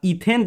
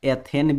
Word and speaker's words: ethane: इसको इथेन हिंदी में हम लोग ऐसे भी पढ़ते हैं, एथेन भी बोलते हैं, तो कंफ्यूजन नहीं होना। यहाँ पे ध्यान से देख लीजिए, एथेन भी बोलते हैं।